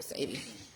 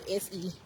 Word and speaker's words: Sebi: Sadie.